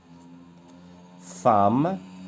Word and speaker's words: femme: كنديروا لها هكا femme. La transcription phonétique ديالها حتى هي ب A واخا عندنا فينا E mais ça se prononce âme femme.